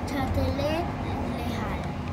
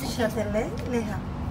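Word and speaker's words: Châtelet–Les Halles: So if we maybe we get lost, we can ask, hey, just in case, estamos en Châtelet Lejal. Uh-huh. Châtelet Lejal.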